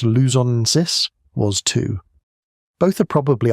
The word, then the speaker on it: luzonensis: In the Philippines, Homo luzonensis, pronounced luzonensis, was too.